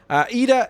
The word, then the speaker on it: Iida: I think it was Iida, wasn't it? I'm surprised. I think the L is silent. Iida, engine leg guy, which is a pretty funny name for a superhero.